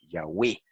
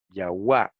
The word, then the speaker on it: Yahweh: En la poesía samaritana siempre rimaban el nombre sagrado con palabras que terminaban en we. Entonces, esto señala hacia la pronunciación Yahweh y no Yahuwah o Jehová, como, ¿verdad?, pretenden algunas otras personas.